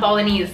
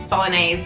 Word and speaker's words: Bolognese: Okay, it's not Bolognese. Bolognese, guys.